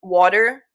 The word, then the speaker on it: water: When people spell it out, it's like wood. Like w o d hyphen er. And when one of my old roommates used to make fun of me for it, she would be like wood. Like she'd say it like that and I'm like I don't think I say it that bad.